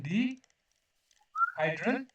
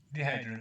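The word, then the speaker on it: dihedral: DN group ठीक है इसको कहते हैं D hydel group sorry set है ना डिहाइड्रल ठीक है तो प्रोनाउंसिएशन यौगिक पढ़े आप तो डिहाइड्रल इसे कैसे कहेंगे डिहाइड्रल इसे मतलब ये क्या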